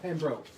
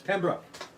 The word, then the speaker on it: Pembroke: Not Pembroke. It's Pembroke. How do you say it? How do you pronounce it? Pembroke? Pembroke, not Pembroke.